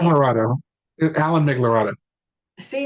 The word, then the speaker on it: Migliorato: Migliorato.